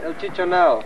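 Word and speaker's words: El Chichonal: Is that the way you pronounce it, they're Fred? El Chichonel. Chichonel. Okay.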